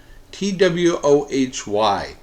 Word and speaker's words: Twohy: Twohy.